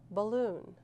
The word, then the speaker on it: balloon: Balloon. Where is the schwa? And the first syllable.